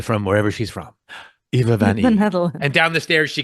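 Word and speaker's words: Van Ee: Van E. Oh, literally. Oh, that's exactly how it's spelled. Van E. But it's VAN space capital E lowercase e. Yeah.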